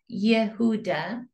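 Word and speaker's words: יהודה: but did the Kingdom's Hebrew name Yehuda Judah in English pronounced Yehuda beg get Jew and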